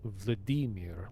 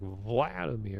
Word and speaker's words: Vladimir: And also, by the way, technically, Vladimir in Russian anyway, it's pronounced Vladimir. Like they put emphasis on the E. Meanwhile, we're like Vladimir.